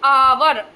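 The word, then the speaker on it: hour: यह हावर नहीं होता है। एट साइलेंट रहता है। और इसकी साउंड कैसी आती है? आ की आती है। है ना? तो आवर आवर की साउंड आती है।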